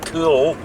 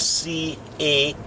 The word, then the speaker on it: Caol: take a wee detour round the village of CAOL, which is spelt C-A-O-L, the village of CAOL, which is right beside Fort William.